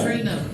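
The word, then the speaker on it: Acharei Mot: Achri Mo. Huh? Achri Mo. Achri-mo. Okay, okay, yeah. I'm gonna let you pronounce every time, okay?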